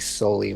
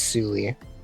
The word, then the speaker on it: Zulie: I had it like I said like how did I say it solely? I think I I think I said it like soie when I was playing. No, it's Sulie.